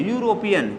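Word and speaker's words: European: और यहां देखें यूरोपियन जैसे ही हम लोग यूरोपियन प्रोनाउंस प्रोनाउंसिएशन करते हैं तो होता है ई से ई से यूरोपियन तो ई से यूरोपियन देता है लेकिन हम लोग पढ़ते हैं यू से यूरोपियन इसीलिए यहां पे प्रोनाउंसिएशन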